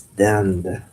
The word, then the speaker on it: dinde: It's dinde. Le dinde. That just kind of sound like dindin, but it's d i n d i n. Instead of win, that is turkey.